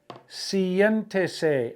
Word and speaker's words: siéntese: Siéntese, accent on the E after the I.